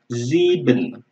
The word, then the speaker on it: sieben: Ya, ingat kalau S-nya di depan kita melafalkannya seperti Z ya, yaitu Sieben.